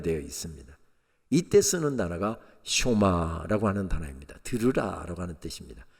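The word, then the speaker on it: שמע: 쇼마 이스라엘, 이스라엘아 들으라. 우리가 흔히 쉐마 합니다만은 정확한 히브리어 발음은 쇼마입니다.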